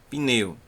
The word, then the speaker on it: pneu: O P, a gente já aprendeu que é um P que a gente chama de mudo. Por quê? Porque ele tem o som de P como B, certo? Mas ele não tem sílaba após ele. Então, por não ter sílaba depois dele, ele não pode formar sílaba, porque só tem sílaba se tiver vogal.